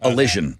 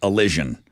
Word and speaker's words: allision: would go that's Elion I said it wrong alision like Collision but allision alision so means it's a version of a collision uh what is it